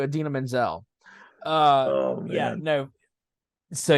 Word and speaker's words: Idina Menzel: Oh, he said her name wrong. He said Adele Dazeem. He was like, It's just like, did John Travolta just have a stroke on national TV? Because that's not anywhere close to Idina Menzel.